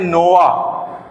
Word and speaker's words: Noah: ये जो नूह, जो अरबी में नूह कहा जाता है, इंग्लिश के अंदर थोड़े से प्रोनाउंसिएशन के डिफरेंस के साथ में नोआ, नोआ कहते हैं, NOAH लिखते हैं और नोआ कहते हैं।